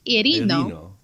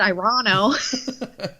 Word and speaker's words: Irino: It's technically pronounced Irino, but that's what I said the first time. I just didn't say it all Italian. It's Italian. I didn't. You said Irano.